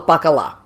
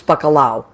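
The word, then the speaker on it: bacalao: puerto rican and uh puerto ricans also call it they you call it bakalao we call it pakala so you're right in spanish it's bakalao which i love um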